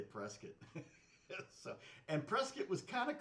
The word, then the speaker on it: Prescott: It's spelled like Prescott, but they say Prescott.